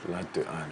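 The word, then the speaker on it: L'Art D'Anne: So latte, but it's la, like in French, yes. And then D, because but in French it's like the, and then with the, D, exactly. And then Anne, A-N-N-E. So it's L-A-R-T _D_A_N-N-E. Latte Anne.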